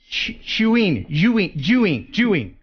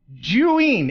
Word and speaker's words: Zhiyun: So tonight, big prize is the, and I've been saying it wrong this whole time, Zhiyun. It's pronounced Zhiyun. Zhiyun is how you pronounce this company's name.